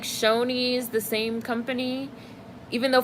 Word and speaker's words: Shoney's: same company even though for the longest time I thought it was Shaunie's until I heard it said out loud and Talladega Nights I was like Shoney's that's how you pronounce that I'm not vegan I'm